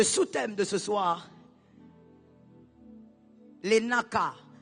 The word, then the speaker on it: Nacah: Le sous-thème de ce soir, les Naka. Naka, c'est en hébreu, ça s'écrit N A C A H.